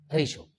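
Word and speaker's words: ratio: रेशो will be आर ए टी आई ओ रेशो so friends hope आपको ये sound clear हो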